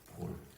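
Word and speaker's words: Paul: 이제 그 이름을 바울이라고 그 바울은 사실이 우리나라 발음입니다 바울 원래는 바울로 바울 그 정도의 발언이고 그리 영어권에서는 폴이라고 합니다 폴 영어권에서는 바울이라고 하 바울 하면 영어권 사람들은 무슨 말인지 알아 무슨 뜻인지 알아듣지를 못해 폴 하면은 아 세인트 폴 아니 아포스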